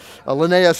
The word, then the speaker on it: Linnaeus: the linnaeus is $3.99 Linnaeus Linnaeus and we'll have lots of fun seeing how people pronounce that word there's lots of different pronunciations but Linnaeus is the one who seems to be the most popular so we'll be happy